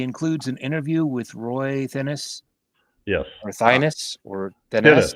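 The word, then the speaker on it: Thinnes: It's Thinnis. He says Thinnis interview. And we talked about his name, and we all thought it was Thinnis. And I looked it up on some pronunciation guide, and it said Thins. And I appreciate Andy for correcting that because we can all go back to the way we always said it.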